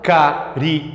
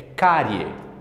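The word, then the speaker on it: cárie: dessa palavra vai ser você não fala Car e não é carie é carie você tem carie tá com o dti sujo carie o que acontece meus amores dentro desta sílaba nós temos uma vogal e uma semivogal quando isso acontece quando eu tenho essas duas juntas nós chamamos isso de de tongo anote aí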